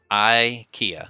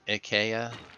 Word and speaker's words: IKEA: no like Ikea Ikea not a long eye short eye Ikea close I'm not Swedish I'm not gonna get any rolling there's no rolling vowels we say I Kia that's we call it Ikea like egg Ikea AKA foreign I like